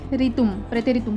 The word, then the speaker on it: Präteritum: Pronunciation goes like this, प्रेतेरितुम form.